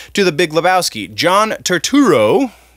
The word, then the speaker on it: Turturro: John Turturro. Turturro, I said it right, is making a sequel called Jesus Rolls.